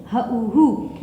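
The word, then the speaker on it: who: What, and when, why, where, which, Hu. Here the W is silent, and only we will make the sound with H and O, because we have a vowel over here at the end.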